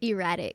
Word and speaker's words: Eratik: Erratic.